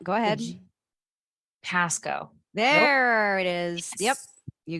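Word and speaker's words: Pascoag: The G is silent. Go ahead. Pasco.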